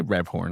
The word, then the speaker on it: Rebhorn: I bet James Rebhorn, or Rebhorn, however you say his name. I say Rebhorn.